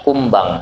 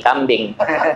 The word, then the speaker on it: kumbang: lalat atau di kaki kumbang saya bilang jangan bilang bacanya kaki kambing kalau kaki kambing besar najisnya karena tulisannya sama kumbang nama Nah kalau kaki